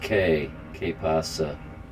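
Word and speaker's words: qué pasa: I don't know what that word, Q pasa. If I was playing if I had a different setup, I could go on my other screen and do a quick search for that. It's pronounced K pasa.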